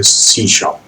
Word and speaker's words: C#: तो सी शार्प जो कि हम इसे प्रोनाउंस करते हैं, आप देख रहे हो कि यहाँ पे हमने लिखा है कि प्रोनाउंस है सी शार्प।